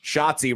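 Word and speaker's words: Schottzie: you think about it, Shotsi rhymes with Nazi under under hits today.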